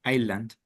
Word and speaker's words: island: Uh, Without pronounce the S. Island. Island.